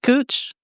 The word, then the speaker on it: Gooch: It's been email center, so am I pronouncing the last name right, Gooch?